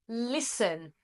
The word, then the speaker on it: listen: Same as listen. There is a T in the middle there. We don't say listen. Listen. No, the T is silent.